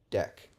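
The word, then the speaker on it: deque: which is a really which is really pronounced a deck to avoid confusion with the DQ method in the regular Q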